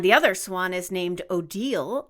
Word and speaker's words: Odile: other Swan is named Odile Oh di le although she's the evil